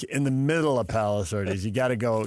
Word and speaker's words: Palos: It's PALOS. I know it's OS. VERDES.